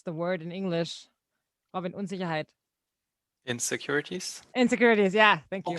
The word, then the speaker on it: Unsicherheit: Unsicherheit? I probably am way off. Did I say it right? No, not really. It's Unsicherheit. Yeah, but that's fine.